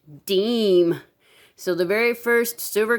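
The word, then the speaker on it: disme: silver minted coin was this 1792 half, and it looks like it says Deezie, but really it's pronounced Deem. So the very first silver coin minted in the U.S. was a half Deem, and it was literally worth 5 cents.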